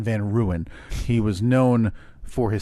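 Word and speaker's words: Van Buren: my ode to Martin Van Beern? Oh, well, you you pronounce his name wrong, Steve. And I know a couple people understand. His name is actually Martin Van Ruan.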